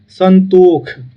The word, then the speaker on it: संतोष: संतोष, संतोष का जो है मैथिली में हम उच्चारण करेंगे संतोख, संतोख, ख, संतोख।